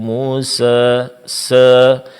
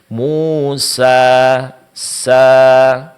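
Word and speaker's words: موسى: Di sini bukanlah pengucapan yang benar untuk mad alif. Pengucapan yang benar adalah sempurnakan pengucapan harakat fathah sebelumnya dan panjangkan menjadi dua harakat. Musa sa wahal ataka haditu Musa sa.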